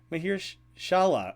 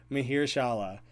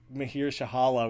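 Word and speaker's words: Mahershala: Oh, I'm adding in an extra H. You're totally right. Mahir Shala. Mahir Shahala was what I was saying. You're absolutely right. I'm adding in an extra syllable there.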